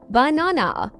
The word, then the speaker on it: banana: For example, in the word banana, the stress is on the second syllable, banana. Exactly.